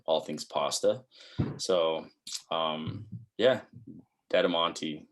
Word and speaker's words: Dettamanti: Dedamonte is how you pronounce it.